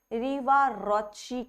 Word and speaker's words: Riva-Rocci: This is something known as Riva-Rocci cuff. This pronunciation is correct because जैसे Gucci होता है ना, वैसे ही Rocci है because he was the scientist and the name comes from there.